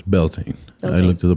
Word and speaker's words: Beltane: So how do you pronounce Beltane? It's Beltane.